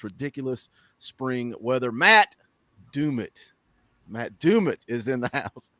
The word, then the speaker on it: Dumit: Every time I say his name now, I laugh because I said I always called you Dummit. Big Ball Daddy corrected me. We got it straightened out now.